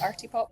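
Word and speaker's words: Artipoppe: I love them on my list um the Arty pop one is how you say it oh yes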